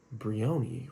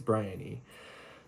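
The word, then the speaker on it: Briony: I was reading it it's spelled b r i o n y Bion right not right it's Brian e so it's told most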